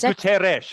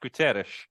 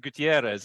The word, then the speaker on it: Guterres: I think it's Guterres. I'm not an expert in Portuguese, but I believe it's pronounced Guterres. I remember someone once, because I always pronounce it Gutierrez as well, but I believe, Are there any Portuguese speakers among you? No, but it sounds logical to me, and for sure there's no I before the first.